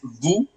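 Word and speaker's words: vous: And then it's vu which means you again but this time it's second person plural.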